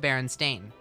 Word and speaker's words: Berenstain: i always i always remembered it as being pronounced berenstain oh oh oh found it oh hey we